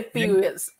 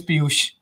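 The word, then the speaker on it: Piyush: I would say Piyuesh. Piyuesh. There's an unwanted E in between, but then I like that E. But the name is Piyuesh.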